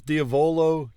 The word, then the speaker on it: diavolo: 1 is diavolo, 2 is diavolo. We'll go with that. Diavolo. Got it. Diavolo. Grazie mille. It's one of those where emphasizing the penultimate syllable is right.